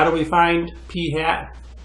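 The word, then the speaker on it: p̂: sample means X bar we calculate sample proportions P hat so this symbol with the little little mark above it we pronounce that as P hat ok and again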